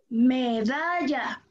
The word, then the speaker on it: medalla: Medalla. Medalla. La sílaba tónica, ¿dónde se encuentra en la palabra medalla?